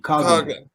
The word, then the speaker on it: Coughlin: Obviously, you mentioned Clark Connors and Alex Coughlin, I believe is who you're referring to with when you mentioned Hard G. Coughlin.